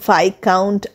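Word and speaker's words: viscount: লিখে জানাও তাড়াতাড়ি তাহলে আজ আমরা শিখলাম কিছু সাইলেন্ট এস ওয়ার্ডস লাইক আইল্যান্ড আইল ভাই কাউন্ট আইল ডেব্রি বুজুয়া তাহলে আমরা লিখছি এস কিন্তু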